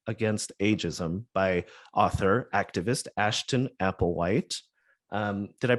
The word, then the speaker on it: Ashton Applewhite: Rocks, a Manifesto Against Ageism by author, activist Ashton Applewhite. Did I pronounce all of that correctly?